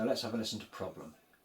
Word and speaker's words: problem: But remember what we say about how we need to push down on the penultimate syllable and we need to say the air as in elephant and roll the R.